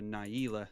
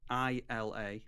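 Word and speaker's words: Najeela: I think I pronounce Najila the Blade Blossom incorrectly. I pronounce her Naila on my channel, and apparently she's actually based on a real name. That name is from Arabic, I think. Oh. And it's pronounced, it's spelt Najila instead of the double E.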